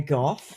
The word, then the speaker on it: Gough: My name is Gough. It often gets pronounced, disastrously.